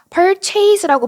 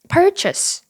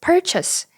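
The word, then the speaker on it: purchase: 단어는 close고 발음해 주셔야 돼요 close이 단어는 어떨까요 perchas고 발음하시는 분들 참 많으시죠 우리는 이렇게 발음하기 쉬워요 그런데 사실은 perchas purchas purchas이 발음이 맞는 발음이에요이 단어는 CH 이렇게 읽어야 될까요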